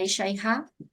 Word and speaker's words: Isaías: De hecho, Isaías en hebreo se pronunciaría Ishaiha y significa el Señor es mi salvador.